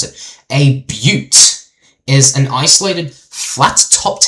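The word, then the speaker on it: butte: A but pronounced but okay that's how you pronounce it. A but is an isolated flat topped hill with steep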